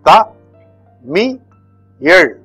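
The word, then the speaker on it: தமிழ்: I am not going to write the equivalent or the spelling, the pronunciation in English. This is Ta Mi Yel.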